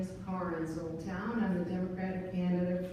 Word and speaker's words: Karin Soltau: Is it Karin Soltau? Karin. Karin. Yeah. Soltau. Hello. Good evening. Thanks for this opportunity. My name is Karin Soltau, and I'm the Democratic candidate for Magistrate District 8.